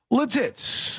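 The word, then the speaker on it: Lititz: And we go to Latitz, Pennsylvania. Uh we've been there before. I hear people pronounce it various ways, but I think Latitz is is the correct way to say it.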